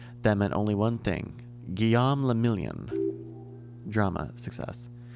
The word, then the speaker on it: Guillaume le Million: Guillaume le Million. Drama, success. If it doesn't rhyme, you're not pronouncing it right.